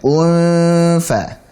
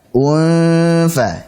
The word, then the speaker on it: انفطرت: Dan hati-hati saat mengucapkan unfa. Unfa. Di situ ada hamzah dalam kondisi berharakat dhammah, kemudian setelahnya ada ikhfa hakiki, nun sukun ketemu dengan fa.